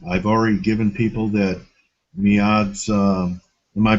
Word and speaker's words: Miad: page and um I've already given people that mads uh am I pronouncing your name correct is it Mead yes correct okay and your Twitter handle is